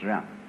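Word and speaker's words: 仁: In Confucius philosophy, the fundamental virtue of a human being is called Zen, spelled Jen for reasons best known to Chinese scholars. I don't know what they are, but it's pronounced Zen.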